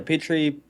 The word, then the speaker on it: Petrie: Yeah, Did I yeah, pronounce Petrie. You can call me. It's fine. Yeah, Petrie.